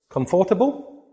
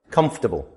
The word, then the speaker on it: comfortable: So what is this word here? Comfortable. No, comfortable. Comfortable.